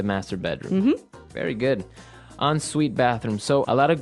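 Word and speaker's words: en suite: UI t e so even though it's e n we pronounce it like an o n yep on Suite so an onite bathroom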